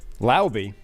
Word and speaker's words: Laube: Laube rhymes with Wowby.